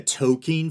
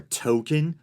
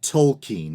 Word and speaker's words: Tolkien: I've been a Tolkien fan for a long time, and I believe that is the proper pronunciation. I used to say Tolkien or token when I was a kid, but based on